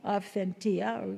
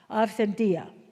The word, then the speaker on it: authentia: Aentia. We say we don't pronounce a hard t. Aentia.